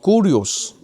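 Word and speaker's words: κύριος: La palabra Señor es una palabra en griego que se pronuncia como kurios.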